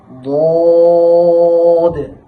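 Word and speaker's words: ضاد: তো উচ্চারণের মাখরাজটা হবে, এই জিহ্বার গোড়াটা উপরের যে দাঁতগুলো রয়েছে, উপরের দাঁতের এই পাশে 5টি দাঁত, এই পাশে 5টি দাঁত, এই 5টি দাঁতের গোড়ার সাথে জিহ্বার গোড়াটাকে লাগাইয়া উচ্চারণ করতে হবে।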